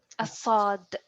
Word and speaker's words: صاد: It's as if you are pronouncing a sin, but push the air up. So not an S, it's an S. S. S. So only push the tongue up.